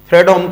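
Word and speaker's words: Fredholm: इसमें हम काम करेंगे फ्रेडम का और वोल्टेरा का दोनों में से कोई भी नाम इस्तेमाल किया जा सकता है एल साइलेंट होता है इसका एंड वोल्टेरा इंटीग्रल इक्वेशन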